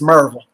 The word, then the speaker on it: Maryville: uh from the maryville tennessee area is it maryville or marvel well correctly pronounced it's marvel there you go that's what i thought so